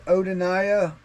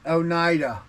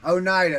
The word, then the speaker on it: Oneida: I can't even say the word. You make fun of me all the time. My wife makes fun of me about how I say it. But it's Oneida. Oneida is what she hollers.